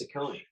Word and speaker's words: Saccone: And now we know Frank's last name is pronounced Saccone.